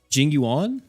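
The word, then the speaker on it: Jing Yuan: for the next Banner because what's his name Jing you on that's how you say it The General that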